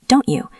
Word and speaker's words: don't you: When T meets Y, they make a ch sound like cheese or church. You hear this often in the phrase, don't you? D O N T Y O U. The T and the Y combine.